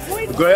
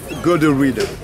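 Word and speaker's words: Gorée: Dutch called it Goree, a good road, because they used to come over here to stop and fix their boats. And Goree became French. French called it, mispronouncing Goree, called it Goree.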